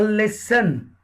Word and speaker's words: listen: In English a word a listen, T is a silent, okay, and we don't read a listen.